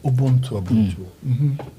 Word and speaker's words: Ubuntu: What's the right pronunciation? Ubuntu. Ubuntu.